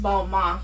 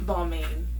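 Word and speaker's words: Balmain: the other day that it's pronounced Bal Ma and not balain I I didn't know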